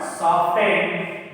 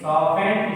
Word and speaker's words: soften: So, actual pronunciation of the word is soften. Actual pronunciation of the word is soften. It's not soften. So that's why T is the answer. T is which is not pronounced here.